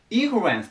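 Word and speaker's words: influence: これもアクセント気をつけてください。最初に行きます。ここインフルエンスって言ます。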